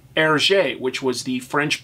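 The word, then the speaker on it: Hergé: in Belgium R gave himself the p name ERJ which was the French pronunciation of his initials reversed from gr to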